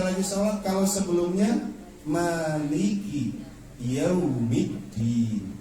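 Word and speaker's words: يوم الدين: Kalau sebelumnya Maliki Yaumiddin, bukan yaw ya Bu ya, kalau baca ejaan Arab tuh nggak ada Maliki Yaumiddin. Jadi dalam Arab itu tidak ada huruf vokal o. Wairil, tidak ada o, adanya yu, bukan yaw tapi yu.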